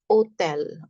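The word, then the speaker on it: hôtel: So hotel is hotel. Hotel H. H is always silent. H has no sound in French.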